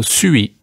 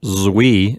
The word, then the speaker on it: suis: I was tempted to pronounce it with a Z sound, but based on what you're saying, it gets a hissing S sound at the beginning. So it's not zui, it's sui.